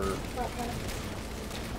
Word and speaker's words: Wattpad: Wattpad. I'm saying Watt, you need it's to wet. Stop. But it's spelled like gigawatt.